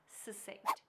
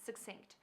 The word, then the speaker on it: succinct: Sink remind us about our 8th word, succinct. You may also hear a different pronunciation, succinct. Both pronunciations are fine.